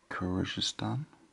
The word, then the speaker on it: Kyrgyzstan: You pronounce that Stan. I've got that bit okay. So I'm going to say Kyrgyzstan, and it's a former Soviet republic.